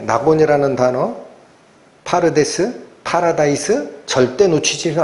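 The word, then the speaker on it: פרדס: 발음 주의에서 한번 들어 보세요. 파르데스. 파르데스.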